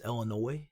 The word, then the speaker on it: Illinois: been living my whole life a lot it's illinois yeah it's illinois really yes well there you go folks it's not that i mispronounce it it's just that i'm a [